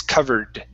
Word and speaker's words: covered: So instead of covered, it's covered. Covered. Covered. There you go. Yeah. So you don't want a t sound. It's a d sound, like the second R in Portuguese.